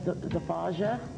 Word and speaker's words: Zafaja: like to introduce Joseph Allen Fears with the band Zafaja. Yeah, that's correct. Okay. That's how it's pronounced.